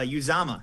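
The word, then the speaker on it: Uzomah: that they also have zj uh cj's uh uzama there you go had to get the pronunciation right but you know he's been able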